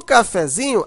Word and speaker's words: cafezinho: Mas no cafezinho, a sílaba mais forte é o zin.